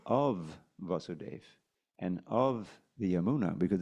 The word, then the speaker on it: Yamuna: thinking Yar y yeah but everyone knows it's yamuna the yamuna river and that's how you're all